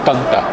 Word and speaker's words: Tanta: Alors, il y a l'accent tonique sur le premier A, donc on dit Tanta.